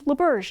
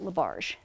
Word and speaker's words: LaBerge: So which is why he got her last name wrong, because it's LaBerge, not LaBarge.